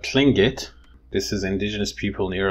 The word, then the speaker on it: Tlingit: This is indigenous people near Alaska, and they're called Tlingit, but in English, they usually call them Tlingit. And why does that happen? Like in pronunciation, why does this tla become kla?